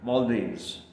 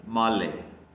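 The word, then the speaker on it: Malé: captivated by or captured by a country called males whose capital is Mal m a l e that thing pronounced Mal it is the capital in the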